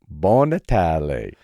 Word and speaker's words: Buon Natale: So, Mark, it's Buon Natale. Buon Natale. You see, my relatives are going to love your pronunciation.